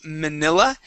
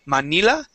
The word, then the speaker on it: Manila: Let's go to Manila. And we want to use a short I here as well. So instead of saying Manila, Manila.